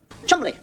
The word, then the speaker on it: Cholmondeley: I mean, you get a name like Cholmondeley. Don't pronounce Cholmondeley. Chumley.